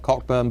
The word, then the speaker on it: Cockburn: I'm not responsible, but all Cockburns carry this mission through life: is your name is spelt Cockburn, but you pronounce it Cockburn.